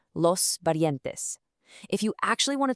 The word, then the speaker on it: parientes: Let's practice that pronunciation together, giving a nice soft tap to that R, los parientes.